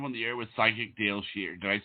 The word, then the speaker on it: Dayle Schear: you are live on the air with psychic Dale sheare did I say it right yes yes yes